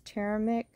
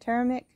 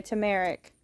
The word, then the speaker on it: turmeric: jump ups that right there isn't Ginger that's teramic is that how you say it turmeric yeah turmeric and then we have some little limes I